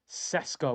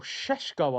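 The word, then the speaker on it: Šeško: Heaven of course former Arsenal youngster, Lenny Yoro, Malasio, Mazawi, Mason Mount, Ugate, Kuna, and of course Benjamin Cesco or Shesho I believe it's meant to be pronounced.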